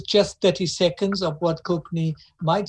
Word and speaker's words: Konkani: So let me give you an example of what Konkani, as it's pronounced in Cape Town. Konkani is the way it's said. And we know that in India, the language is pronounced Konkani, except when we went to the villages of